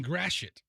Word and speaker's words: Gratiot: Is that how you pronounce it? Yeah, Gratiot.